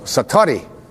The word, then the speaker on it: satori: it's called excuse my Japanese but it's called Satori I'd love to say that Satori s a